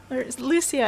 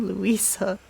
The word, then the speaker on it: Lucia: Lucia, I keep saying your name wrong. I keep saying Louisa. Lucia.